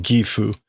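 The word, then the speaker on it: 義父: So normally that would be pronounced gifu, but this is a way to signal to the reader Otou-san, father, but that this is someone saying father-in-law.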